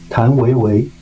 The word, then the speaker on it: 谭维维: Tang Wei Wei.